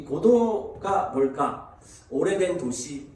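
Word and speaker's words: Godot: 그래서 고도를 기다리며, 이 고도가 뭘까? 오래된 도시, 뭐 그렇게 저는 생각했었어요. 어제까지도요. 고도가. 근데 이 고도가 사람 이름인 거예요. 사람 이름. 고도라고 하는 말도 그 한글이 아니라 고도라고 하는 말이 그냥 프랑스어 발음입니다.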